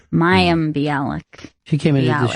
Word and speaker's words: Mayim Bialik: I'm surprised you're at ease in pronouncing her name, because I still... Maya Bialik? Mayim? Mayim Bialik. Mayim Bialik.